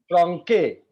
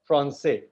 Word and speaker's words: français: you have one accent below the C, and because of that, it will be pronounced so, not ko. If that is not there, Yes. franque, because that accent is there, français.